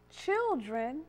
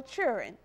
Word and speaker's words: children: Children or churin.